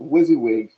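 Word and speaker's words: WYSIWYG: it's it is a what wizzywig as as some will pronounce it wizzywig that is what you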